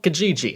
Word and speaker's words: Kijiji: So this is a site called Kijiji, at least I'm pretty sure that's how it's pronounced, and it's similar to